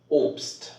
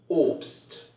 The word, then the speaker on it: Obst: Then you have to pronounce it like st. St. For example, Obst, Obst, oder fast, fast.